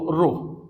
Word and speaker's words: rho: Spelling ये होता है RHO, रो।